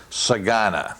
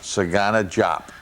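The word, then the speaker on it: DeSagana Diop: you say it everywhere forget the d e exactly why why why it's there i don't even know but it's sagana sagana sagana jop so you know as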